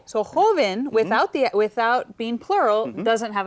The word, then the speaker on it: joven: Ahora, joven. Joven. Okay, dos sílabas. Okay, ends in an Joven. N. Yo escucho énfasis en jo.